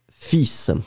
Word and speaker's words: fils: but in this situation, we really pronounce the S, and strangely, we don't pronounce the L, hein?